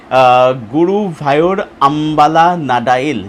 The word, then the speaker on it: Guruvayoor Ambalanadayil: উচ্চারণটা হচ্ছে গুরুভায়ুর আম্বালা নাডাইল, যার অর্থ হচ্ছে গুরুভায়ুর টেম্পলের সামনে।